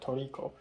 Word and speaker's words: tricot: of stuff I listen to, and I said Tricot. And then she's like, what? How do you spell it? And I said Tricot, and they're like, oh, Toriko.